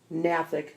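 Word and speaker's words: gnathic: begin with silent letters silent beginning GN pronounced and medical term Natick GNA th IC Natick pronounced Natick KN pronounced in' and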